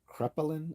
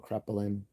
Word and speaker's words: Kraepelin: His name is Emil uh, Krepelin. I think that's how you would pronounce it. Emil Krepelin.